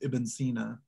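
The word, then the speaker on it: Ibn Sina: to pronounce it but in the islamic world he's still usually referred to as ibn cena okay awesome and it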